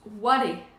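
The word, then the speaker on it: 我: Il se prononce ware.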